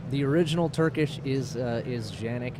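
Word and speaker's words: Canik: I'm gonna I'm gonna say it wrong first mechanic which is a very hot product for you guys it's it's taken off and done really well but it's pronounced Janek correct the original Turkish is is Janek it's a region in Turkey but we've even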